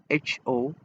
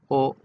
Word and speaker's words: ho: And EOO, this word HO or AKO is pronounced as O and not ho.